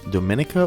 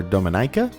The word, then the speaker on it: Dominica: This is Dominica or Dominica. I've heard it pronounced both ways.